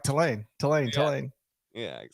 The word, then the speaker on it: Tulane: so now I'm like Tulane Tulane telling yeah how do you what is the proper way to say it uh to Lane to Lane you know what